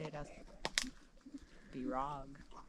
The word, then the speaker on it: Rag: How would you How do you pronounce this, sweetie? I would say rag. Rag. Yeah, but I have like a plane, you know. So, rag. It's not rogue.